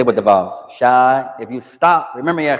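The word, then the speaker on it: شاي: If you don't pronounce the vowels, if you stop on the last letter, or you pronounce the last vowel, it's the same meaning.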